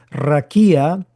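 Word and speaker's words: רָקִיעַ: expansión es h75 49 que se pronuncia raquia que significa la expansión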